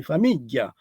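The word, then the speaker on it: famigghia: But if you say famiglia, famiglia, family, famiglia, in most places in Sicily, they will say famiglia, where the G is double G followed by an HIA, famiglia, double G, HIA, famiglia. But in other places, near Agrigento, for example, they will not say famiglia, they will say famiglia, like Italian.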